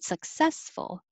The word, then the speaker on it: successful: second syllable success and i added 33 because it's the same pattern but with an extra ending successful successful and 30 31